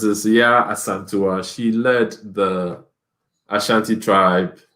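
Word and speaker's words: Yaa Asantewaa: So it's this Ya Asantua.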